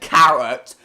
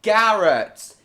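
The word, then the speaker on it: Garratt: It's not called a carrot engine either! So that's why you said carrot. No, Garrett.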